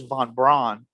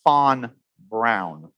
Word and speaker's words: von Braun: know werner fawn brown i know everybody says von braun but actually it was fon brown that's how you pronounce it an exact uh the the actual